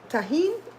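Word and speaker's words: Tajín: How you spell it? Tajin, Tajin.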